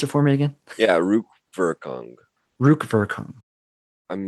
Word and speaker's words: Rückwirkung: of meat of the retroactive structure, Nachtraglichkeit and Rückwirkung, the future anterior. What's the, pronounce it for me again? Yeah, Rückwirkung.